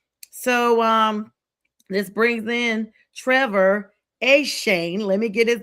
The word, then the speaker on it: Etienne: So this brings in Trevor Shane. Let me get his name correct because I heard that it's not Etienne, you guys. His brother's like, it's Shane.